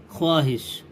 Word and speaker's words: خواہش: شین زیر حس خواہش۔ ہجے میں واو کا نام نہیں لیا جائے گا، البتہ اس کا رواں پڑھنے میں واو کی آمیزش شامل رہے گی۔ رواں پڑھتے ہیں خود، خوش، خوان، خواجہ، خواہش۔ نیچے جملے لکھے ہیں